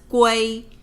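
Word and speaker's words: 圭: The U is radical and this part itself without the radical it already pronounced as guay.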